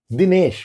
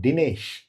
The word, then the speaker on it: Dinesh: Dinesh, my name. This is a dental d. If pronounced with a retroflex d, that is d it sounds like an English word Dinesh. I'm not dining, right?